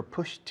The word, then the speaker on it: pushed: I've never pushed you. Pushed you. La ed de push tiene un sonido de T que se enlaza con you. Pushed you. Tiu.